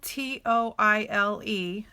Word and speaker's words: Toile: And it's spelled T-O-I-L-E, but it is pronounced Toile.